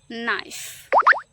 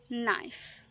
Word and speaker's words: knife: kite kite knife knife K is silent before N.